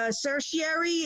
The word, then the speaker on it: certiorari: you okay I have a question about the certiorari is that how you say it yes on